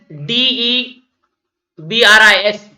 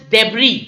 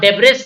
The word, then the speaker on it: debris: That is D E B R I S pronounced as debris. Not debris.